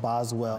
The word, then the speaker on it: Boswell: from a place called Boswell Indiana and for the locals Boswell is pronounced bosel so it's like this